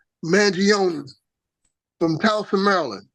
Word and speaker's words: Mangione: Mangione. How you pronounce his dude's name, man? Mangione. Mangione from Towson, Maryland, right?